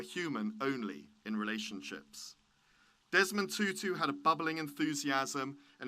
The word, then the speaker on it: Tutu: winner archbishop desmond tutu tutu not tattoo after my bamboozling you